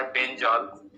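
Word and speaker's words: benzyl: अब एच कम करते जाएं तो केमिस्ट्री में C6H5CH ये कहलाता है बेंजॉल।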